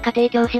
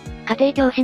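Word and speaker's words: 家庭教師: で 42 巻でタイトルの家庭教師は家庭教と読むのが正しく家庭教師の読みは誤りなんだぜ発行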